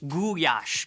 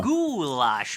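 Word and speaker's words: gulyás: cherry soup and the national dish everyone knows about guyash commonly pronounced goulash which i ate at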